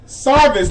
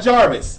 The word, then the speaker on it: Sarvis: oh wow wow so his name is Steve Sarvis not Jarvis Steve Steve it's not